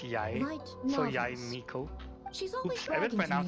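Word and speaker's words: Yae Miko: Yai Miko. Yai Miko. I didn't know that's how you pronounce her name. All this time, I've been pronouncing it wrong.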